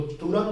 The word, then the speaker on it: तुरंग: हर्ष उ के उच्चारण में भी विशेष ध्यान रखें, जहां हर्ष उ का उच्चारण आए उसको जल्दी से बोलना है, जहां दीर्घ का उच्चारण आए उसको देर से बोलना है। तो तुरंग और तरंग में भी यही अंतर है।